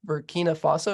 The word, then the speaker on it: Burkina Faso: Maybe some, I don't know, anything that you learned, or because I'm not familiar with, is it Burkina Faso? Is that how you pronounce it? Yep.